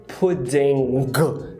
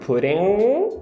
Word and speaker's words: pudding: a atenção é que nunca o NG tem essa pronúncia do G, né? Então, não seria pudding. Nunca vai ter esse G. O que pode acontecer é ter o gemidinho, pudding, que seria o recomendado, ou, como a Arlequina